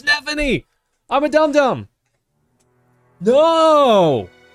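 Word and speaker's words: Nephenee: I said Nefini. O. It's Nephany.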